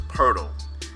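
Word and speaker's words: Pöltl: pronounce it jakub hurdle the phonetic the way it's spelled you may think is Jacob but his yakup and last name was pirtle it's a seven foot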